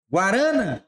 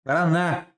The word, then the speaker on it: guaraná: Guarana ou Guaraná? Guaraná. É uma oxítona. E terminou em A.